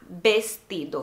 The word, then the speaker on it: vestido: Vestido aqui também se chama vestido. Se escreve igual, só que o V aqui se chama como se fosse B, então é vestido.